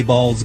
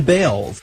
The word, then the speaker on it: Baals: Some people think the Harry Baals Government Center would make Fort Wayne the butt of jokes. After all, the family did change the pronunciation of their last name from Baals to Bales.